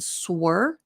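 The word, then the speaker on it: sword: native speakers say and sore even though they've been speaking English for decades it's okay you didn't know you were doing it but the W is silent and Sir so these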